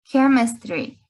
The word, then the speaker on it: chemistry: Sí, este CH va a sonar igual que mechanical, como una C o como una K, algo muy seco, ¿no? Ese CH no suena como ch, sino como k, ¿no? Chemistry or mechanical.